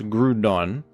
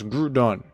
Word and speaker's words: Groudon: And there's words like crouton, for example, crouton, which might be a precedent for how I pronounce Groudon.